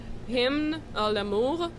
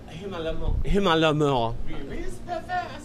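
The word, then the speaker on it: Hymne à l'amour: Yeah, it's If You Love Me, and but I think you should pronounce this, Hymn à l'amour. Hymn à l'amour.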